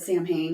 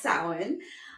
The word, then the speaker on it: Samhain: So sin spelled I said it wrong in the last episode that we did. It's I said Sam Hayne because that's what it looks like but it's Celtic so nothing looks like what it's how it smells it's sin.